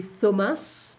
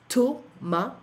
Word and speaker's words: Thomas: Thomas, so in French we don't say Thomas, but Thomas, and we don't pronounce the S.